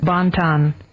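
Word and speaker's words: bon ton: Your word of the day is spelled B O N T O N. B O N T O N. Bontan.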